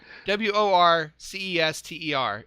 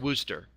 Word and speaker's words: Worcester: W-O-R-C-E-S-T-E-R is pronounced Worcester.